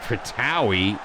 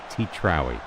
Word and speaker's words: Titrawi: Tiki, Feratovic, Alarcon, Tratawi. Oh, I keep saying his name wrong. It's Titrawi.